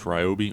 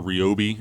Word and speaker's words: Ryobi: I would also suggest you get a tool like this Ryobi, or Ryobi, as apparently that's the correct pronunciation.